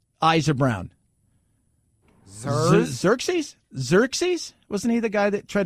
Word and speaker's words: Xerxes: for you Phil possessive adjective how do you pronounce this X Y are s eyes are brown sir-sir chase Xerxes wasn't either guy that tried to kill everybody